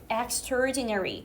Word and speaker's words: extraordinary: Plat's exterinary answer.요 단어 발음할 때 엑스트라디 이렇게 하면 어디 가서 나한테 영어 배웠다고 하지 마. 알겠지? Extraordinary. 그냥 externa를 안 살립니다. extraordinary. 이렇게 하나로 연결지어요.